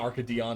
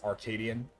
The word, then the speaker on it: Arcadion: It's not it's it's not Arcadon. It's Arcadian. Duh.